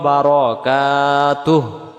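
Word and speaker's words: بركاته: বারাকাতুহ ওয়া বারাকাতুহ পড়লে বার জবর বার হবে উচ্চারণ হবে ওয়া বার ওয়া বার যেমন নয় 10 11 12 এমন হবে পড়ি আমরা এই হুটা আমাদের উচ্চারণ বাদ চলে যায় এখানে যদি হু বলি দম ছাড়া যাবে না দমটা ছেড়ে দেড় বারকাতুহ এমন হবে মানে তার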